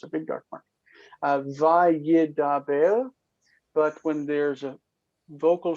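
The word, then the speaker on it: וַיְדַבֵּר: But we still pronounce it as if that as if that dagesh were there. Vayedaber. Vayedaber.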